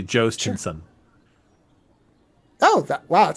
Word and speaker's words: Jhostynxon: The phonetic spelling, the phonetic sound of it. It's basically Jostinson.